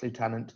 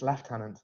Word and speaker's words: lieutenant: mix of both oh I did pronounce lieutenant just like American it's left hand I'm terribly sorry too